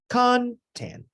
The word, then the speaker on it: content: usually talk about the content this word is stressed on the first syllable content that is a noun